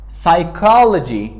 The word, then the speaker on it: psychology: And it is not pronounced before S and N. قبل از S و N تلفظ نمیشه. Example, مثال. Psychology, روانشناسی. It is not P psychology, it is psychology.